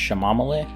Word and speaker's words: chamomile: For those of you who don't know, he keeps pronouncing it wrong. It's pronounced shamamale.